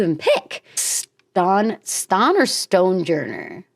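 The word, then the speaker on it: Stonjourner: Ston Ston or Stonejourer? Maybe Stonejourer, but it's spelled like Stanjourer.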